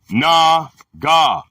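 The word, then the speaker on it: נָגַע: The word is nega. We running? Yeah, we are. Pronounced na-ga.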